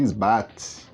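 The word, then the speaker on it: IsBought: Se escreve isbolt, se fala isbat.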